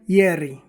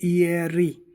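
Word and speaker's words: ieri: इ ए अर इ तो ये हो जाएगा यरी। हम स्लो मोशन बोलेंगे तो इयरी लेकिन जब हम एक साथ बोलते हैं इस पूरे को तेज यरी इयरी यानी बीता हुआ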